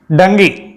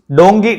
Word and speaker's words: Dunki: ഡങ്കി ഡോങ്കി ഡുങ്കി എന്നൊക്കെ പറയും ശരിക്കുള്ള പേര് ഡങ്കി എന്നാണ് ഇൻലീഗൽ ഇമ്മിഗ്രൻസിന് പറയുന്ന പേരാണ്